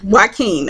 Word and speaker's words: Joaquin: Joaquin, okay, with a K, not a Q. I'm trying to pronounce it as a Q.